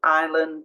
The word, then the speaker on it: island: a word psychology pneumonia silent s so uh often after an I so Island Dey a u